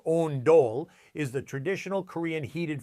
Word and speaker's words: ondol: Ondol, pronounced ondol, is the traditional Korean